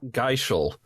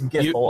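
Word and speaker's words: Gysahl: If you recall, in Final Fantasy, Gissel greens is what you give to chocobos. Not Geishel. All these years, they're not Geishel greens. I thought they were. Why would you pronounce it that way? Because I thought the H was in a different spot. Okay, I guess that makes sense. Still, I would say Gishel. Whatever, yeah, it's Gissel.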